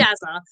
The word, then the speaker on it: Shazza: How do you It's pronounce Shazza.